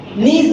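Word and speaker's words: gneiss: नीज जो है इसमें जी साइलेंट रहता है, इसको नीज पढ़ा जाता है।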